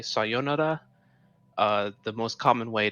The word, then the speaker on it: sayonara: i said i said i said john a right but i should have said sayonara and now he's saying